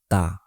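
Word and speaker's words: ط: ত এবং তা এই দুইটা হরফের ক্ষেত্রেও সেম কথা। তা স্বাভাবিকভাবে উচ্চারণ করতে হবে। আর ত একটু গলার গভীরে এনে তারপর উচ্চারণ করতে হবে।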